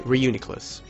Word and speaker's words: Reuniclus: pronounce this it's gone it's like reunion right okay Reuniclus can't even tell you